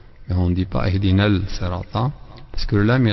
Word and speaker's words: اهدنا: اهدنا, faire attention, beaucoup de gens disent اهدنا. En fait c'est I. Le A il faut donc c'est un H inspiré. Il faut donc bien le montrer, le prononcer. Ihdina, si on s'arrête, Ihdina,